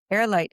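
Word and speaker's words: Heirlight: those of you listening, airlight is spelled H E I R L I G H. So, it's air as in they are the heir to your estate.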